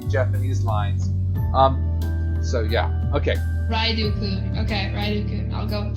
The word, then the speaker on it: Ryuudou: it shows up next time as it's being pronounced in the Japanese lines. So yeah, okay. Ryuudou-kun.